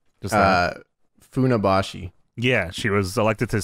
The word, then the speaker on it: Funabashi: I don't know how to pronounce this place, James. Not the C. Just Funabashi.